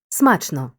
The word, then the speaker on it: смачно: Київський по-київськи зустріч назустріч у прислівниках на О що утворилися від двоскладових прикметників наголос переходить часто на перший склад гіркий гірко смачний смачно у прислівниках на Ома наголос